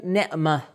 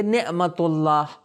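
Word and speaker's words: نعمة: Arabic میں اگر آپ رکنا چاہیں گے تو آپ کیا تلفظ کریں گے؟ نعمہ، ہا کا تلفظ کریں گے. لیکن اگر آپ کسی چیز سے اس لفظ کو جوڑنا چاہے تو تا کا تلفظ ہوگا، آپ کہیں گے نعمت اللہ، یعنی اللہ کی نعمت.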